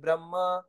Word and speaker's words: ब्रह्म: लग जाएगी तो यह ब्रह्मा हो जाएगा यह ब्रम कहलाता है इसलिए इसको ब्रह्म पढ़ना चाहिए इंग्लिश वाले जो वर्जन